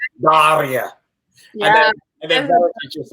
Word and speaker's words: Daria: She's like, Daria. Yeah. And then Verity's just like, yeah, Daria. Like, yeah, Diana can say it very good because you say it Daria.